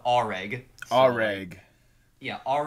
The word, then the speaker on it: Areg: alive so it's a it's pronounced reg already yeah all right